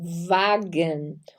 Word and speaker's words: Wagen: W se pronuncia V, como o V lá do Brasil. Então, vamos ter aí Wagen. O V, nosso V do português, se pronuncia com som de F, sempre, sempre.